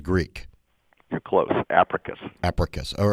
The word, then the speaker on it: Apricus: joined on the show with richard pascoe ceo oprius did i pronounce it correctly richard no uh it's africa bio sciences sounds greek you're close abracus all right thanks for helping me out with